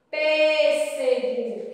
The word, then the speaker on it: pêssego: Então a tia vai usar o tio. Pêssego. Quem é a sílaba mais forte? Pêssego. É o pé. Então, som fechado, a tia usa o acento circunflexo.